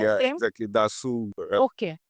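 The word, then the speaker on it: Dassault: Dasu. Okay, उसका जो real नाम है वो दासू है। Yeah, that's a French word, so they spell it that way.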